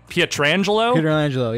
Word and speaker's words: Pietrangelo: I kind of built my team around, I don't remember how to pronounce this, Pietrangelo? Pietrangelo, yeah.